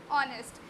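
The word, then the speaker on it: honest: है ऑनेस्ट, ठीक है, हम इसे क्या प्रोनाउंस करेंगे? ऑनेस्ट। अब आपको यही लग रहा होगा मैम यहाँ पे ए का यूज़ करेगी, क्यों? लेकिन मैं यहाँ पे ए का यूज़ नहीं करने वाली, क्योंकि यहाँ पे हम इसे प्रोनाउंस कर रहे हैं ऑनेस्ट, जो आ से स्टार्ट हो रहा है, ठीक है।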